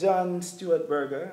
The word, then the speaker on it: John Stuart Berger: John Stuart Berger, and did I pronounce the name properly?